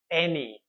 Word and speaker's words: any: all's well that ends well okay a one syllable word here is any now I know it's spelt with an a